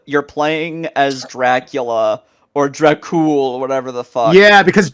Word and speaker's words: Dracul: have, you're playing as Dracula or Dracul, whatever the fuck. Yeah, because adding that extra A is lame and gay. It's because Dracul is actually closer to the real pronunciation, Yeah, I but know, nobody but cares.